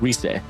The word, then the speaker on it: Rise: And it apparently it's not Rise. It's Reese.